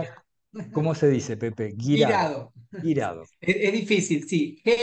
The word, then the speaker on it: Guirado: Girado.